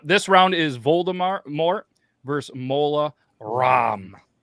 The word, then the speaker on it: Mola Ram: round is Voldemort versus mola ROM like CD-ROM but apparently it's spelled